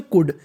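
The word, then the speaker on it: could: हम लोग इंग्लिश में कुड क्या पढ़ते हैं कुड अगर आपको कहीं पर सीओ यू एल डी लिखा मिल जाए तो उसे कुड पढ़ना है और और यहीं पर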